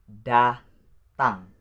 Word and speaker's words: datang: And the next, which is number 15, it is the word datang. Datang. Datang. Datang. There are 2 syllables in this word. You need to use your sound very strong, because I know maybe you guys can't pronounce this sound, which is sound.